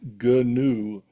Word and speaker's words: GNU: One website uh quoted one of the early pioneers of GNU radio that he liked GNU for the first word to be pronounced as if it was kind of new but different.